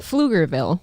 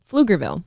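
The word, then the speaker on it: Pflugerville: is in uh wow flugerville is is that how you pronounce it flugerville you don't pronounce the P the p is something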